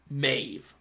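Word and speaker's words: Medb: pronunciations are not good I know it's Maeve but I do kind of like Med B Med B kind of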